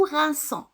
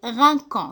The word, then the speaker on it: rinçons: Exemple, nous rinçons. Parce que si on laisse le C normal, on va le prononcer rinquant.